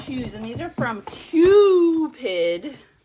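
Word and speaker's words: Qupid: and these are from cupid cue accent on the cue oh so these are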